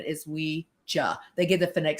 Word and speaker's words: Ouija: I'm like and here's funny thing, people say Weegee or Weeja. Now, you could say cuz of pop psychology now or or should I say pop pop culture now, you could say Weegee. Everybody says it now. It's the vernacular in our in our culture. It's really pronounced Weeja. Because what they did is they put a a box out with the planchette in it and it said the phonetic spelling is Weeja.